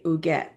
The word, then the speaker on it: Huguette: And yes, I looked at that pronunciation, people. Be very proud of me, Huguette.